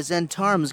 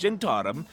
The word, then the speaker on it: Zhentarim: So, what's the deal about this job that the Zentarim's got lined up for me? In a minute, I'll tell you. Also, it's pronounced Gentarum.